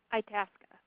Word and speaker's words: Itasca: Itasca.